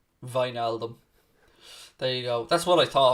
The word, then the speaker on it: Wijnaldum: That's exactly how you pronounce Wijnaldum.